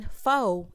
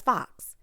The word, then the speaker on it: faux: But why is this lady that's announcing everything, why is she pronouncing faux as fox?